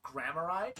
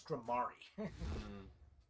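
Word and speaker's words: Gramarye: I've gotten so used to saying Grammari when the true pronunciation is Grammari.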